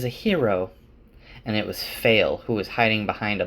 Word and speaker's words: Faile: Also, I looked in the glossary and it's pronounced Faile. It's spelled F-A-I-L-E, Faile. But I'm going to keep calling her Faile because that's how I pronounced it in my head.